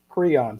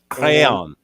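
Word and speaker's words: Creon: speak french go ahead crayon c-r-e-o-n crayon like the the little coloring stick crayon there you go so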